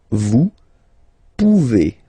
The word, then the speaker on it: vous pouvez: Then vous pouvez. Okay, classic ending as well for the vous form. A Z like that. Okay, remember you pronounce it e.